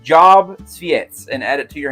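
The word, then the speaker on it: Tsviets: Sephis?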